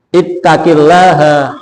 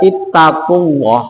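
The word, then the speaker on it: اتق الله: atau jemah yang lain membaca ittaqillaha itu dibaca ittaquaha jadi Kasel itu kalau diikuti dengan lafzul jalalah itu bacanya adalah lillah ittaqillah Walillah kalau dibaca ittaqulah itu menyalahi atau gramatikal Nahwu Jadi kalau ada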